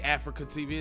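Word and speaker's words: AfreecaTV: is weird because it it say africa tv it's spelled a-f-r-e-e-c-a tv africa so i thought it was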